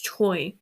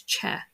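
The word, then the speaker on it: Choi: can um especially with like CH c h oi like you would think it's Choy but I've watched like the correct pronunciation I've watched a lot of content when they're saying family name and it's chair not Choy um so it's like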